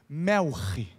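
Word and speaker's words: מלך: ou deus meu melek a pronúncia no hebraico seria uma vogal uma consoante que é cultural e o som seria mais ou menos assim melre melre melre sadok lembra desse cara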